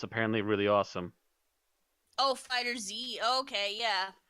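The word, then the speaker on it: FighterZ: Oh, Fighter Z. Okay, yeah. Yeah, it's Fighters with a Z. Yeah, there's no space, and everyone's pronouncing it without a space.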